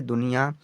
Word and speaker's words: दुनिया: डी से तो दा लिया हमने, यू से छोटी की मात्रा, एन से ना और आई से छोटी की मात्रा, बाई से या और ए का मतलब बड़े आ की मात्रा हमने लिख दिया दुनिया बच्चा।